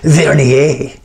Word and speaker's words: vernier: telling me i mispronounce it and it's actually vernier anyway however it's pronounced you can use this to get down